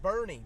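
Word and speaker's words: Boerne: Nothing around here is pronounced properly. Well, look at Bear County. Yeah. And Bernie, B-O-R-N-E.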